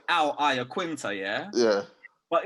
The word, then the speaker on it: Iaquinta: But these American retards call it fucking Iaquinta, bruv. It's like, who the fuck is an Iaquinta, bruv? Do you know what I mean? What the fuck is an Iaquinta, bruv? It's Iaquinta.